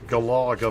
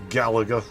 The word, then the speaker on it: Galaga: I was more of a Galaga man myself. Gallagher, as people seem to pronounce it now.